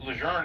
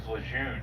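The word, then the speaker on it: Lejeune: General Leger was Cajun from Louisiana. So that's how they pronounce his name. But you might know it better as Ljun from Camp Llejun in North Carolina, which is named after him.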